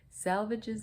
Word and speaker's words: Salvages: Salvages is pronounced to rhyme with assuages.